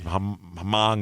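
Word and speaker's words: Hmong: do you say that hm o n g the h it's Hong it's a it's a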